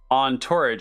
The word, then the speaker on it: entourage: is this spelled e-n-t-o-u so it's like courage but it's on torrage it's like on tourage it's like courage but with the T yeah yes uh what